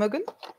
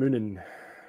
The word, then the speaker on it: Munin: Hugin and Mugin. Yes. Am I pronouncing them right? So. Hugin and Munin. Munin. Yes.